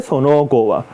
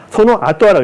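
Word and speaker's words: その後は: 먹고 똥 싸고 네테오키 때 자고 일어나고 사때 그런데 그건 그렇고 소노고와 사때 소노고와 소노 아토와라고 읽거든요.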